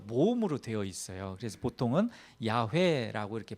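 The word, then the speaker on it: יהוה: 그래서 보통은 야회라고 이렇게 발음하는데 뭐 야 어떤 경우는 뭐 야회 어떤지 여호와 뭐 이렇게도 쓰는데 다 같은 말이고 히브리어로는 뭐 야회 이렇게 발음이 됩니다.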